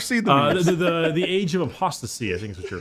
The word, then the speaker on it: apostasy: word because my brain doesn't say it right apostasy there we go oh aka the Terran Crusades